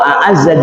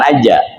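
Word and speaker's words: أعزّ: Wa a'azza jundah, Allah yang memuliakan bala tentaranya. Jadi bacanya a'azza, bukan aja.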